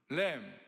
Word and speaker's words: lamb: LAM, lamb, 어린 양, LAMB, B is 묵음, 똑같아요, 발음이.